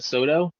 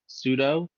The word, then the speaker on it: sudo: the mispronounced show oh it's not SoDo sudo oh are we gonna